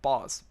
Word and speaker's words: boss: So you have the word bus b u s and then you have the word boss b o ss. If you're not careful with these two vowel sounds, short vowel sounds, then